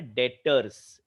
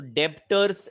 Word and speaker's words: debtors: और वो नाम है डेटर्स, DEBTORS। ये स्पेलिंग में बी जो है वो साइलेंट है, साइलेंट, बी इज साइलेंट। तो डेप्टर्स ऐसे प्रोनाउंस मत करिएगा, डेटर्स, या थोड़ा पॉलिश्ड लैंग्वेज में इट is called trade receivable.